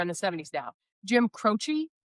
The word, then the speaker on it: Croce: It is Croce. Croce. Awesome. Awesome. I guess I could have just asked them to spell it.